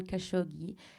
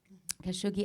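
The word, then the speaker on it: Khashoggi: to your friend and colleague, the late Jamal Kosigible. Am I pronouncing it correctly? Kashogi and his disappearance in Saudi Arabia at the hand of the prince.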